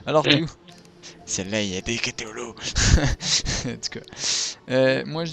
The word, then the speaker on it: Cthulhu: Je sais pas comment ça se prononce, mais c'est pas grave. Donc, C-T-H-U-L-H-U. Donc ça fait Cthulhu.